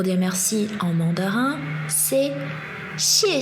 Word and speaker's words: 谢: C'est un H mélangé d'un S en mode chuintement.